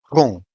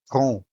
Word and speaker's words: rum: Rum. Here we have a vowel U followed by an M in the same syllable, while the M ends the syllable, making the U sound nasal. Rum.